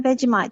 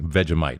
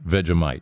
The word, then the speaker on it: Vegemite: Lots of butter and just like a smidge in a veite. Just like smeared just just just a tiny tiny little bit. It's fantastic. Yeah, I mispronounced it. Vegemite. Vegemite. Vegemite.